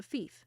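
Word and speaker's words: fief: land was called a thief rhymes with Leaf which comes from the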